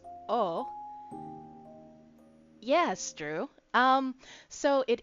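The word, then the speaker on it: を: um about how wo is often pronounced as O.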